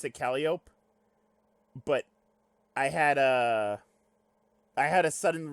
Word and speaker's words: Calliope: They pronounce it Calliope, and I was like, wait, is that how it's pronounced? And I looked it up, and it turns out that is how it's pronounced. It can be pronounced like any way you want. Honestly, I don't give a shit. But I think it's supposed to be Calliope, technically.